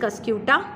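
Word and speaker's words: Cuscuta: Answer is कस्क्यूटा, CASCUTA, कैस्क्यूटा बोलो आप, ये कस्क्यूटा, दोनों प्रोनाउंसिएशन इज करेक्ट।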